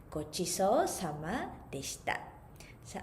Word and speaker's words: ごちそうさまでした: And after eating, we can say ごちそうさまでした。ごちそうさまでした。So ごちそうさまでした is a little bit difficult to pronounce. So you can separate here. So first of all, ごちそうさまでした。So we can divide in three. ごちそうさまでした。So after eating, also we